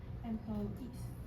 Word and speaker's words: employee: Liang for correcting my pronunciation of employees. It's the same pronunciation. Employee. Please repeat. Employees. Attendee. When you see EE at the end of the word, the stress is on that part.